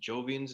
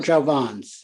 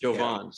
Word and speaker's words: Jovan's: Well, I remember reading about was it Jovian's nightclub? Yes. Pronouncing that right? Jovan's. Jovan's. Yeah.